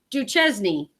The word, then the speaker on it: Duchesne: It's Duchesne."